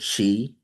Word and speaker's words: qi: That energy is called chi, chi. That's the English version. Chinese version, they spell it qi.